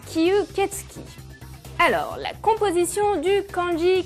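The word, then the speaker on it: 吸血鬼: Mais il existe un mot plus traditionnel, écrit en kanji comme cela, qui se prononce kyuketsuki.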